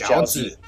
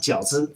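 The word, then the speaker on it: 饺子: This is jiaozi. What he say? This is jiaozi. Jiaozi. What is this white people Jiaozi. pronunciation? Right, Uncle Roger. It should be pronounced 饺子.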